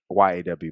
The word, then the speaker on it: Yaw: Yes, spelled YAW, but pronounced Yaw.